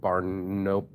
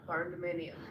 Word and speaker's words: barndominium: I can build my barnuminium. Did I say it right? Barndominium. Barnuminium, because there will be a way.